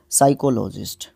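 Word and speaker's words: psychologist: उसके बाद नेक्स्ट है a scientist trend in साइकोलॉजी, उसको देखो यहाँ पे भी पी साइलेंट रहेगा, साइकोलॉजिस्ट मनोविज्ञानी।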